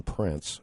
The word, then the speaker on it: Prance: appreciate you giving us the insight into Ian Prance, and that's, have I pronounced it properly? Prance, Prance.